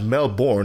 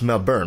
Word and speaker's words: Melbourne: One, and two, it's not Melbourne, it's Melbourne, right? I have to say it right because there's a way of saying that word, that city, and most of us don't do it right. So please repeat that name for our audience if you'd be so kind.